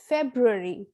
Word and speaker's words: February: month of the year this will be pronounced in the british english as february february and in the american english it is pronounced as february february next